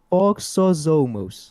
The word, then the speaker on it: Foxosomos: Foxosomos.